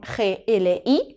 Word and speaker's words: gli: hacer con gli, con G-L-I, que este sonido de aquí se pronuncia gli.